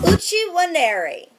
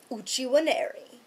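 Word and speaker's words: Uche Nwaneri: Uchi Waneri. Uchi Waneri. Uchi Waneri.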